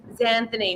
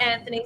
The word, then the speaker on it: Zanthany: Sometimes I can't be bothered with it's ZANTHANY, not Anthony, ZANTHANY.